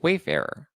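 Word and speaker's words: Wayfarer: thinking the Wayfair Furniture am I pronouncing is it it's way farer yeah let's the judge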